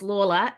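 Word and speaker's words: Lawler: that's my name but my last name is Lola l a w l e r two syllables one is a real word lore one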